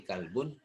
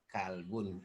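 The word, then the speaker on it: كَلْب: Arab qolbun carbon Deda qolbun artinya hati kalbun Anjing itu kita tahu perbedaannya dengan mendengar oh ini kalbun ini qolbun dalam pengucapannya dengan kita Nah tadi bisa membedakan antara kalbun dengan qolbun dan banyak contoh yang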